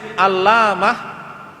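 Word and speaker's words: علّامة: Nah, kalau bacanya di tasdid alamah, nah, artinya beda. Alamah pakai tasdid itu artinya adalah orang yang ilmunya luas.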